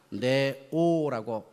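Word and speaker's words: νέος: 여기서 말하는 이 젊은이라고 하는 이 단어는 어떻게 발음이 되느냐? 네오라고 발음합니다. 네오 잊어버리기 쉽지 않게 검은 고양이 네로해 네오라는 겁니다.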